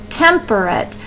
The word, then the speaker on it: temperate: we have another word temperate it has three syllables in it so temper tempate temperate I'd almost put an unstressed at the end of the at at the end of temperate uh but once you